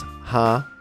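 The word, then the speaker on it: 蝦: This is because, in Cantonese, prawns is pronounced as ha, like in laughter.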